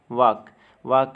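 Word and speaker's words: walk: वाक में L silent है मतलब चलना।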